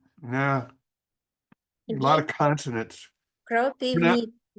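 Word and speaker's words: Kropyvnytskyi: Kropivnitsky city. Sure. All Kropiv. right. I'll do what I can to try and get that correct. Oh, nah, a lot of consonants. Kropivnitsky.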